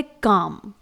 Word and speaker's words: calm: इसके बाद है काम, CALM, यहां पर भी L लेटर साइलेंट है क्योंकि यह M से पहले आया है।